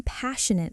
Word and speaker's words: passionate: Next, I've always been passionate about. This phrase is wonderful because it connects your personality to your work. The keyword is passionate. Three syllables, stress on the first. Passionate. Passionate. I've always been passionate about